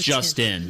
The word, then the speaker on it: Juston: But it's pronounced Justin.